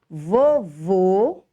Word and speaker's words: vovô: acento circunflexo de chapeuzinho ele é usado sobre as vogais a e e o para marcar que a pronúncia da vogal deve ser fechada um exemplo para classificar para definir a diferença da pronúncia são as palavras vovô e vovó vovô você vai usar um acento circunflexo vovó você vai usar o acento agudo quando siconflexo um lado